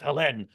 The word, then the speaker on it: Helene: It's pronounced Helene, but that's or Hélène rather, but that's the French pronunciation. We do silly things with French words in English. We'll be calling it Helene here since we speak English, but nonetheless, that's tracking